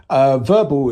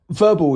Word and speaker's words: Vherbal: Verbal is spelled VHERBAL. Now, Verbal is sick.